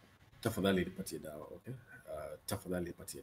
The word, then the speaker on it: tafadhali: And the word is tafadhali. Tafadhali. With your tongue between your teeth when you're saying dali. Dali. Tongue between your teeth. Dali. Tafadhali. Okay. Notice that there's a difference between tafadhali and tafadhali.